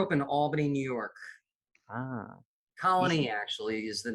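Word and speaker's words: Colonie: It's not pronounced colony, it's colony. It's a little subtle distinction, but colony. So you put the emphasis on the wrong syllable. Okay. So you put the emphasis on knee.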